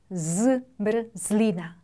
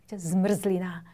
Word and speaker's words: zmrzlina: 프스트, zmrzlina, zmrzlina, 아이스크림이라는 뜻인데 엄청 발음이 어렵죠?